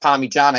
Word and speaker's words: Parmigiana: It's literally spelt with an I and pronounced Parmigiana.